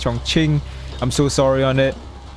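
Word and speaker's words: Chongqing: so sorry about that did not pronounce my pronunciation on the chong king that's the correct pronunciation that pronounced chong ching i'm so sorry on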